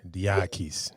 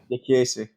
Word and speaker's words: Diakiese: It's DIA. It's African boys like the way we say D with the I. It says Yeah. dia. It's sort of the way English guys say like dia, but pronounced differently.